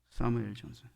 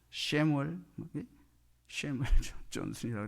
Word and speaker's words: 사무엘 존슨: 때 선정된 인물, 그게 사무엘 존슨, 셰무엘 존슨이라고 그러는데 발음이 사무엘 존슨.